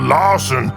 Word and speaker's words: Lawson: Lawson the fire ogre I'm called Lawson cuz it rhymes with aen and I just want